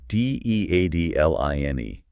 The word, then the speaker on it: deadline: D E A D L I N E. Deadline. Can you pronounce that clearly for our listeners? Of course. Deadline. Listen to the stress. It's on the first part.